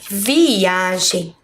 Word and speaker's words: viagem: Vamos começar pela palavra viagem. Qual será a sílaba mais forte da palavra viagem? Viagem. Eu acho que vocês conseguiram perceber que é a letra A.